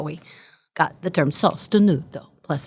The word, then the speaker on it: sostenuto: Anyway, so I started looking at Italian terms, and in Italian, the word sostenuto is means supported and sustained.